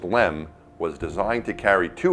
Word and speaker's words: LM: The lunar module, or LM, pronounced LEM, was designed to carry